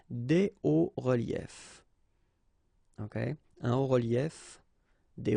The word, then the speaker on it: hauts reliefs: it's quite simple, because S and S, but then we don't pronounce them here. Des hauts reliefs. Okay, un haut relief, des hauts reliefs.